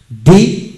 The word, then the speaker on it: the: হয় দি এর উচ্চারণ দি এবং দা হয় যে দি এবং ডি এর পরবর্তী ওয়ার্ড এর প্রথম অক্ষর ভাওল হলে ডি উচ্চারিত হবে এবং কনসোনেন্ট হলে দা উচ্চারিত হবে যেমন ডি ওল্ড ডি অল ডি